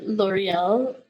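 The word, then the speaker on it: L'Oréal: really, L'Oreal.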